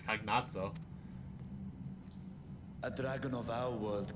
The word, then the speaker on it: Cagnazzo: I'm so used to saying Cagnazio, but I guess it's Cagnazzo.